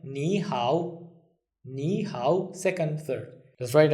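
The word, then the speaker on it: 你好: And if you look at the nihow, it's third tone, third tone. So it becomes second tone, third tone. Okay? So it will sound like nihow, nihow, second, third.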